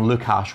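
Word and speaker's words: Lukhash: the synthwave bracket and absolutely phenomenal albums from lukash which is spelled l-u-k-h-a-s-h weird name but they're brilliant uh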